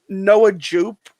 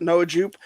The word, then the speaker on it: Noah Jupe: You know, it's Noah Jupe, right? I'm saying it right. Mhm. Noah Jupe.